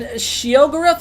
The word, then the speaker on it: Sheogorath: And Sheogorath, is that I'm saying it right? Is the Daedric Prince of Madness. That's right.